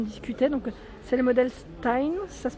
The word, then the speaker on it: Stein: Donc, c'est le modèle Stein, ça se prononce comme ça, à 69,95 €.